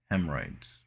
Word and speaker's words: hemorrhoids: what the a hemorrhoids you call it like h.a.m it's h-e-m h-e-r-r hem yeah it is h-e-m hemorrhoids hemorrhoids presumption would you